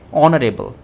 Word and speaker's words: honorable: Now H is a consonant. We all know that. But the thing about this is that consonant uh the pronunciation of honorable o. Right? A honorable right? It is more inclined towards your a and your e right honorable.